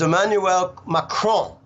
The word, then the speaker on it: Emmanuel Macron: out of 200 kids so the way you pronounce it is Emmanuel macron okay Makran won the rigged farcical corrupt election he just